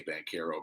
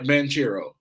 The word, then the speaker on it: Banchero: two or ben caro i hate when they say bank hero bro i listen his is spelt banchero i'm saying manchero i don't care how